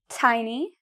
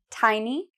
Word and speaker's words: tiny: correct so we have one here an expert tiny tiny tiny no D sound water water there is a